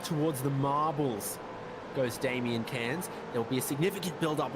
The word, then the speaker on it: Cairns: But anyway, I do know how to pronounce that place name. It's Cairns.